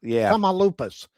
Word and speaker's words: Tamaulipas: And that that was the case in uh how do you pronounce the state? Tamaulipas? Tamaulipas.